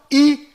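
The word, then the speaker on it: ישעיהו: Nesse vídeo que foi produzido dentro da Universidade Hebraica de Jerusalém, nós vimos que o nome do profeta Isaías é pronunciado Isaiau.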